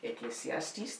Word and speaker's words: Ecclesiastes: There's a book in the Bible that I try not to say the name, Ecclesiastes.